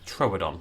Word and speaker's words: Troodon: I believe it is meant to be Troodon. You are meant to pronounce the second O a little bit. Troodon, like that. Troodon.